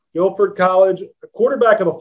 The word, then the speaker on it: Guilford: played four years at guilford college am i pronouncing that correctly correct guilford college a quarterback of a football team for